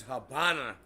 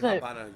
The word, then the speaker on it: Habana: no abely no no they just pronounce it that way because they pronounced the V like a b mhm I don't